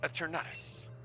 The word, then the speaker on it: Eternatus: That's why we've been given the wishing stars to Eternatus.